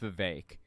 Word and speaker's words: Vivek: And he talked about the fact that Vivek Ramaswamy, I'm sorry, his name's pronounced Vivek.